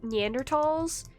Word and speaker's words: Neanderthal: pronunciation um it's like neanderthals any professional person I've heard who works in archaeology has always said yander talls I don't know I